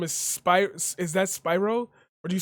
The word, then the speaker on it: Spiro: me volume come on yo y'all always got pronunciation of names all i need to know spiro yes i would be awesome at a game